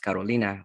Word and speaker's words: Carolina: it was actually pronounced carolina which is it sounds gorgeous beautiful in spanish not only was i